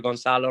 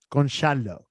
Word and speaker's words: Gonçalo: Maybe this new guy that scored a hat-trick yesterday, he will be able to put 60 million for Gonzalo Ramos. Gonçalo. That's how you say in Portuguese.